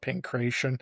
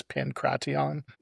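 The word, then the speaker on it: pankration: You know, this is a little before the rumors that pancraton would be a lot of people call it pancreasian. I have heard that the true pronunciation is pancraton, but you know, however people say it, I'll I'll not correct cuz I don't know.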